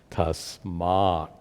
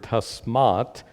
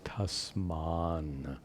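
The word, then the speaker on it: tasmāt: So when the word tasmat is followed by na, it becomes tasman. So, but that's a little confusing because tasman is not the word. The word happens to be tasmat.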